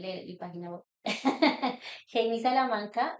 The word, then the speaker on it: Geimy: cómo te pueden contactar Salamanca mi nombre se escribe con g y es una historia que pueden leer en mi página web Je Salamanca y me pueden